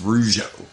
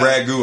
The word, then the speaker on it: Rougeau: episodes, and they didn't even know how to pronounce Rougeau. Yeah, no, I... Blaze said yeah. ragu a lot.